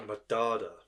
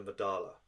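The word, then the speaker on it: Medarda: Mard councelor Talis councelor madada not counselor madala councelor councelor madada okay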